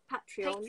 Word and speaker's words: Patreon: And I always say it wrong. Not, it's Patreon.